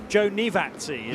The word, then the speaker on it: Giovinazzi: Joe Nivazzi, it's Joe pronounced.